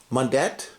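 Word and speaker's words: Mundet: seen this one soda i don't know how to pronounce this uh madet moondet how do you spell it m-u-n-d-e-t mondet uh and it's uh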